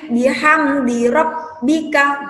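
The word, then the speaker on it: بحمد ربك: alis fasep di WhatsApp bihamdi robbika gitu ya bacanya Ci tekan huruf Mbaknya ditekan tapi tidak ditahan Hai nah Disini di ayat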